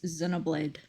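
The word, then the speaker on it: Xenoblade: Now, where is Zenoblade? The way that it's spelled with an X, but it's pronounced with a Z sound always throws me off.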